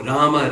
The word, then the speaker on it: Rama: So Rama, Rama, just simple Ra and then Ma.